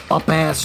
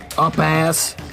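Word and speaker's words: upas: And he stepped into the deadly wine of the up-ass tree. Up-ass. That's how I'm going to pronounce it.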